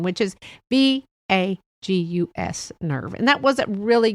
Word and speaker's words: vagus: It was a few episodes back, and it was on the vagus nerve. And not the vagus nerve, VEGUS nerve, the VAGUS nerve.